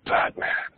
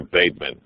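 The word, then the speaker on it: Bateman: what's your name I'm Batman the actually uh you're baitman the E is silent um putting kids in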